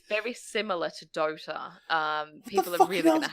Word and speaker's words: Dota: People are going to hate me for this, but it's very similar to Dota.